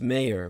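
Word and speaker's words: Meijer: Republican Insurgent representative Peter majer pronounced mayor more correctly the J as a as a y has recounted that in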